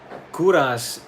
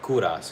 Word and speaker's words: Kovras: Kuras is it's my name, but with the the U is switched with a V. So it it it spells out Kovas, but it's I pronounce it Kuras.